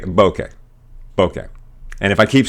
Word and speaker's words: bokeh: know where it's like I'm not Mexican so I shouldn't pronounce it that way I should try and americanize it a little bit so I just take it as straight bokeh bokeh and if I